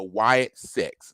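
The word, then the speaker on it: Wyatt Sicks: Bray Wyatt and then six which is spelled SI i c k so like being sick being ill and then the number six so the Wyatt six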